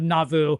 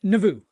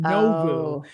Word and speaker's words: Nauvoo: And also, I think I scared him when I told him that most people mispronounce it in the first syllable by saying Nauvoo.